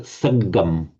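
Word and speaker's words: saggaṃ: I think I detected you pronouncing these G's as a J sound, but it's got sagam, sagam, Sagam.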